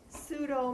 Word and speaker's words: pseudo: so pseudostrata by pseudostratified pseudo the prefix pseudo the p is silent pseudo means falsely so falsely